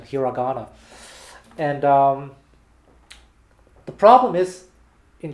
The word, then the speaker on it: hiragana: Yeah, that's the American pronunciation, hiragana.